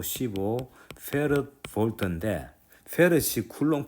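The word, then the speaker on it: 패럿: 페럿이라고 읽습니다. 페럿. 페르데이의 이제 사람 이름을 따라서 나온 건데 그래서 페럿이라 그런다는 것을 알 수 있습니다.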